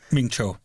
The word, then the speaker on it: Mingzhou: become the prefect of Mingzhu. Mm-hmm. I believe that's how you pronounce it. Mingzhou. Mingzhou. There we go. It's more of a J.